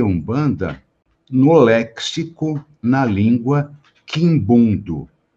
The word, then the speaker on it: Umbanda: m então um banda Só que a pronúncia quando aá a palavra ela escrita com m ou com n eu vou pronunciar com u sempre então é um banda então a pronúncia é essa E aí aqui em